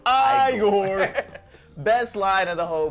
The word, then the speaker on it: Igor: And it's like the whole thing where, like, he meets Igor, and, like, it's pronounced Igor.